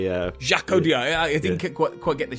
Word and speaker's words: Audiard: Okay, that was To San Francisco from The Sisters Brothers, a film by Jacques Audiard.